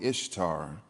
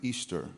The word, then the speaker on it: Ishtar: You may be tempted to call me Ishtar, particularly if you saw that godforsaken movie from your 1980s. But I assure you, my worshipers pronounced it Easter, much like Ishmael or Israel, and almost exactly like the word Easter.